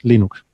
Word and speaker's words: Linux: decía algo así como hola soy linus torvalds y yo pronuncio linux linux gracias y no hay planes linux linux entonces ese era el audio que establecía de forma oficial la fonética de cómo se debía pronunciar linux eso me recuerda al